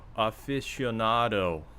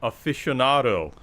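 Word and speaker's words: aficionado: Aficado. You know I can pronounce it correctly, right? Okay. Aficado. No. Afficionado.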